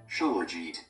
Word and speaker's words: Shilajit: How do you pronounce Shila, Shilajit, Shila? Shilajit. What? Shilajit.